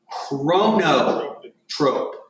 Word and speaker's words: chronotrope: Anything that lowers heart rate is a negative chronotrope, or negative chronotropic, negative chronotrope, okay? Chronotrope, spelled like it sounds, okay?